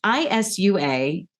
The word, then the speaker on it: Isua: It's ISUA. I looked up many places how to pronounce this correctly, and Isua seems to be what most scientists say.